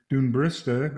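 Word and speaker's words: Dún Briste: near the caju fields there's down patrick head dune barista if i'm pronouncing that correctly that's right a sea stack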